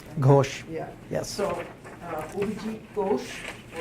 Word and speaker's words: Ghosh: And our lecturer is, I forgot to confirm the pronunciation of her last name. It's just Ghosh. Ghosh.